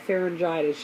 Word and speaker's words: pharyngitis: and it they ended up saying she had pharyngitis yeah that's exactly how it's pronounced because I looked it up I'd never